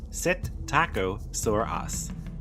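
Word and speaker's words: Psittacosaurus: Satacosaurus, pronounced Sit Taco, living during the early Cretaceous period around 120 million years ago.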